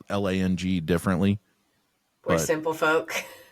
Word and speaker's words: Lang: If you don't pronounce it Lang, they're mispronouncing it, whoever they are. Yeah. No, there was a guy named Robert Lang in the NHL, and he pronounced it Long. No, Robert he's wrong. Long. I'm like, that's just wrong.